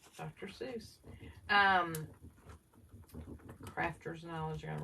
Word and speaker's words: Seuss: Seuss. Is that how you say it, Lisa? Right. That's right. Dr. Seuss.